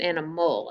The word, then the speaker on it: animal: And how about animal? An, I, mole. A lot of times we don't pronounce it mole, animal. We pronounce it animal, and it sounds like a consonant LE, but it's not.